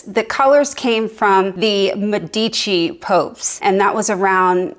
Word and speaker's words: Medici: It's the Medici family, not the Medici family, so I said it wrong.